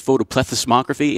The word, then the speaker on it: photoplethysmography: It's photoplethysmography, and I didn't even pronounce it right. That's fancy. They got like an extra syllable that I always drop off with my southern lazy lip. It's photoplethysmography, and people, you know,